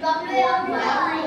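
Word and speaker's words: W: ডব্লিউ ডব্লিউ ডব্লু সঠিক উচ্চারণ কি হবে স্কাই ডব্লু সঠিক উচ্চারণ কি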